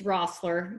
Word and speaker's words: Roessler: It's Roessler. Just don't even look at the E.